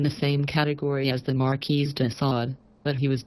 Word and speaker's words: Marquis: Also, if you have watched this with subtitles, you'll notice I spelled Marquis instead of M-A or Q-U-I-S to pronounce it correctly.